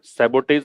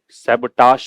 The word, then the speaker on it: sabotage: ये जो SABOTAGE लिखा मैंने, इसका प्रोनाउंसिएशन सैबोटेज नहीं पढ़ना है। क्या नहीं पढ़ना है? सैबोटेज नहीं पढ़ना है। क्या पढ़ना है? सैबटाश पढ़ना है, ठीक है।